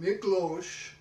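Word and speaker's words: Miklós: So they pronounce it Miklos.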